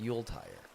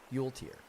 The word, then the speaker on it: Yuletire: Yuletire says, before you leave, my name is pronounced Yuletire. Okay, so wait, is it tear or tier? Tier? Tire? Tier? Tear? Tier. Yuletire.